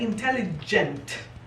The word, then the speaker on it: intelligent: esta, que le siga después de la G una E, recuerdes que esa G se pronuncia como si fuese una Y. Por eso es que se pronuncia intelligent. Otro detalle, ¿ven la T al final de la palabra intelligent? No quiero que pronuncien intelligent. Tienen que pronunciar muy bien esa T.